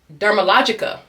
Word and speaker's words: Dermalogica: Dermal that why WHY DO I HAVE all them syllables in there? Dermalog. Dermalogica.